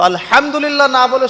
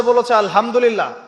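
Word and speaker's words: الحمد لله: আলহামদুলিল্লাহ ভালো আছি তো আলহামদুলিল্লাহ না বলে সে বলেছে আলহামদুলিল্লাহ তো ওই যে হা এর উচ্চারণ পরিবর্তন হয়ে গেছে এই কারণে অর্থ পরিবর্তন হয়ে দাঁড়াবে যে সমস্ত নিন্দা আল্লাহর জন্যে যিনি জগৎসমূহের রব আমার কথা কি বুঝতে পারছেন শুধু হা এর মাখরাজ ভুল হওয়ার কারণে এই সমস্যা হলো তাই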